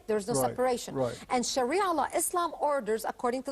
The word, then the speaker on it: Sharia: us a little bit about how do you pronounce the shiara law Sharia law Sharia law okay and Sharia law is